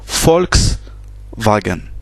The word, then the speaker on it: Volkswagen: Donc le U se prononce ou le V en allemand se prononce F. Donc ici ça se prononce FAO. C'est un FAO. Par exemple, la marque de voiture Volkswagen, ça ça se prononce Volkswagen.